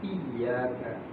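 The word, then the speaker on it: إِيَّاكَ: Dalam pengucapan iyyaka ada tasdid yang itu apa yang diberikan pada huruf iya itu. Perhatikan Bu. Itu namanya dalam istilah tajwid naber. Naber itu dalam bahasa artinya melengking. Iya.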